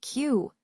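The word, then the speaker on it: queue: Next, we have Q, which is a line of people waiting. The interesting part here is the silent yuyu.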